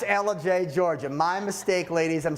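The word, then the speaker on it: Ellijay: It's Elijah, Georgia. My mistake, ladies. I'm sorry. And they even spelled it phonetically out, and I still spelled it wrong.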